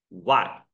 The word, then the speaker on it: white: I 我们请进来 W 是 I 啊 Yes White I've told you guys W H 在一起 H 不念的没有音标的 H 是 silent letter W N H H 是 silent 不念的 OK White White White, 刚才短点 white, white color, Snow White.